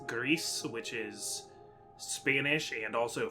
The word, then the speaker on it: GRIS: game it is uh this is Greece I think that's how it's pronounced um g r i s Greece which is Spanish and